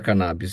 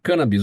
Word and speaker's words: cannabis: cannabis a sociedade fala cannabis e você usa a pronúncia canabis O que que tá correto cannabis é a pronúncia correta na verdade As duas pronúncias são corretas Eu também me questionei